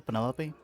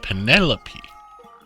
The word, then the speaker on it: Penelope: is that short for Penelope officially yes but I never can be bothered with all four syllables of it Penelope sounds a little